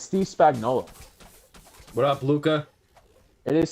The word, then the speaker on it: Steve Spagnuolo: You could start with it's Steve Spagnuolo. What up, Luca? It is Steve Spagnuolo.